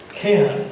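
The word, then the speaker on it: Khehar: Respected justice Jagdish Singh खेहर, this is the right pronunciation, sometimes some good kind of person can नॉट बी ए कहर।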